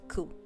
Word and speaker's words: coup: No, it's French. Don't pronounce the P. Okay, so it's coup.